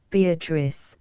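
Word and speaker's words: Beatrice: oft will tell note beatric I use this word as it is pronounced in the Italian as consisting of four syllables of which the third is a long one she then was silent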